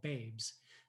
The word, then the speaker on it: bbz: seven queer black artists called babes the pronunciation for bbz which itself is an acronym